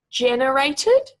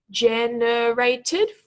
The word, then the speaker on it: generated: you haven't seen before generated generated full syllable word with emphasis on the first syllable there this word you